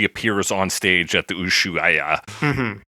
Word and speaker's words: Ushuaia: Yeah, and then that is the same outfit she appears on stage at the Ushuaia. Mm-hmm. Ushuaia. Ushuaia. Ushuaia. Yeah. That's three consecutive separately pronounced vowels.